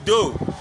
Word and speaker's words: dos: Yeah, le cœur, le ventre, le ventre, again, le ventre, le dos, le dos, le dos, le dos, ils ont